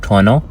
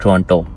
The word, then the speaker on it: Toronto: तो बेसिकली ट्रोनो के जो है ना एक दे प्रोनाउंससेस एट ट्रोनो नॉट ट्रंटो।